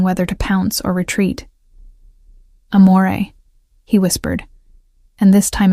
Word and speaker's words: amore: Amore, I said softly, demonstrating the proper pronunciation. The R is barely there. It's more of a suggestion than a sound. Amore, he repeated, his eyes